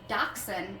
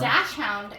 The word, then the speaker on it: Dachshund: a dog breed nerd, Dachshund is the correct pronunciation, because I believe it's a German word. Forgive me if I'm wrong on that one. Sounds German. Dachshund is not the correct way to pronounce it, and yes, you can call them wiener dogs, but Dachshund is, I guess, like in English, butchering mixed with the word bun, which I think is